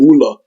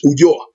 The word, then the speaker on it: Ulloa: And another man, an Italian called Ulloa, which I think our brother Peter Morla, he mispronounced his name Ulla. I think he calls him Ulla, but it's Ulloa.